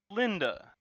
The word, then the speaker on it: Linda: It's because the last syllable of a female echidna's name is emphasized, so there was a hyphen there. Hmm. Because it's Yeah, like I keep hearing Linda, which makes sense, yeah, but like it's supposed to be Linda, you know? yeah. It's supposed to be like the name Linda, but the final syllable of da needs to be pronounced with emphasis. So it's Linda.